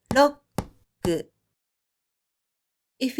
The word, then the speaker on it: ロック: Even though you don't pronounce the first consonant K here, you still give one beat when you pronounce the word.